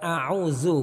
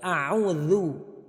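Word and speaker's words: أَعُوذُ: Jadi zalnya harus kita baca dengan benar, jangan sampai kita baca desis. Jadi bukan a'udzu, bukan. Tapi a'udzu, a'udzu, zazizu.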